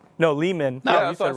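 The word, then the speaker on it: Leamen: No, Lehman.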